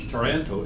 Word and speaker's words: Taranto: Sounds like Toronto, but Taranto, Italy. How do you say it? I think it's Taranto.